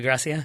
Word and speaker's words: Gracia: coach that came in Harvey not Garcia Gracia yes not Garcia Chris yeah he came in